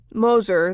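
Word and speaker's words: Gmoser: Moser, that's spelled G-M-O-S-E-R, but the G is silent, was one of two attorneys back in 1978 who tried Bob Young.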